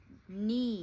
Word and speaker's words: knee: No shouting k ni silent kne silent k very good sign. Yeah. Silent. Yeah. Silent. You don't read a letter K. Just knee.